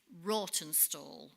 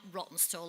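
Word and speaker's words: Rawtenstall: the same town in Lancashire which is it's pronounced actually rotten stall okay not rotten stall as we pronounce it but we actually went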